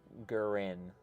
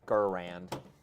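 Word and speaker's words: Garand: Well, the way they say the maker said he's own, his name is Gurin. I don't know. I don't know. I'm gonna stick with Gurand.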